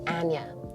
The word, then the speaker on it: Anya: to say my name it's anya and yeah and yeah yeah i'd say like aneurysm i'm trying to find